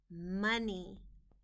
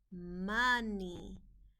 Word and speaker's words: money: The O in this word is part of the word we need to remember by heart. The O is making a short U sound, money. And the EY is a part of the sound spelling patterns. Y at the end of a two-syllable word makes an E sound, money.